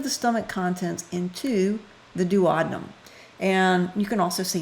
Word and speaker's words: duodenum: stomach contents into the duodenum and you can also see duodenum either either way duodenum do a denim do a denim there are many ways to pronounce it so you can see